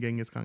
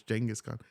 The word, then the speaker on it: Genghis Khan: Genghis Khan. I heard it's Genghis Khan. I was correct. Genghis Khan. Yeah, bro. I saw that one. That there was like it wasn't Genghis Khan. It's Genghis Khan.